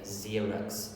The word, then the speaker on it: Xerox: The pronunciation is special here, Xerox, they say it like that.